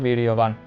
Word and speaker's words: বীর্যবান: শিক্ষার্থী এখানে বীর্যবান, বীর্যবান, এখানে বইয়ের উচ্চারণটা লক্ষ্য করতে হবে ওয়া, আমরা উচ্চারণ করবো বীর্যবান।